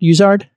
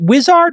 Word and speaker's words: Uizard: called use art as in Wizard am I pronouncing it correct uzard fantastic Jason Okay so is it Wizard or uzard you know what we like to